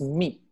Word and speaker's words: 蜜: It's meat with a T at the end. Meat. Okay, meat. Okay. Yeah, but etymologically, the T also evolved out of an L. So you can also say meal.